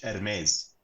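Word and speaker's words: Hermès: I expected and then heres it's a silent h heres they make the birken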